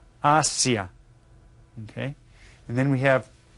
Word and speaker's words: Asia: large continent this is Asia Asia you can see that it's spelled the same as in English but it's pronounced a little bit different Asia okay and then we